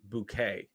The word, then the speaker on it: Bucket: but the main character was Mrs bucket but she always pronounced it bouquet kind of you know